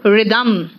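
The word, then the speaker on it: rhythm: है honour are honest रिदम देखो यहां पे एच साइलेंट है रिदम है ऑनरी हनरी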